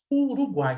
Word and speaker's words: Uruguai: A palavra Uruguai tem 3 impulsos de voz. Uruguai. Então, são 3 sílabas.